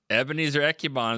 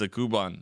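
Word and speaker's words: Ekuban: We covered Ebenezer Ekubon is what we called him for 5 years until he finally said, "That's not how you say my name. It's a Kuban."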